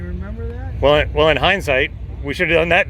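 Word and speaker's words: Hyndsight: uh youtube channel is hindsight engineering and it's not spelled like regular hindsight we spun it around a little bit it's h y n d white hindsight engineering just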